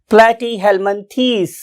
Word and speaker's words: Platyhelminthes: hell Min test now what is its true pronunciation platy hellmanthis it's a true pronunciation for this phylum platy Hellman tease right